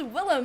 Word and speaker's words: Willem: It's Willem, and his last name is technically Defoe, but he's used to people pronouncing it Defoe.